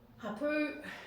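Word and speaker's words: hapū: Hapu, the emphasis is on the second syllable with the macron on the top.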